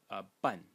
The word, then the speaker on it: 伴: first character is pronounced pun pun so a perfect match between the pronunciation of the title phonetic element and uh the character um and it means